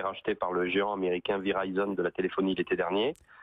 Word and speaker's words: Verizon: Verizon, moi je le prononce à la française, ils sont en train